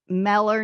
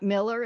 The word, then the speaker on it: Meller: Yeah, I'll send you Brenda Meller, because she's in Meller, not Miller, and she has something like that.